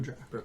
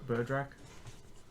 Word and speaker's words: Berdrak: Berdrak. Berdrak.